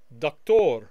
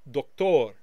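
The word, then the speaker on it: دكتور: Doctor in the masculine singular is doktor or doktor, doktor. Notice the emphasis on the second syllable.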